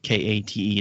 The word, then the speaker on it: Kate: That's Kate, Kate. That's how you say it.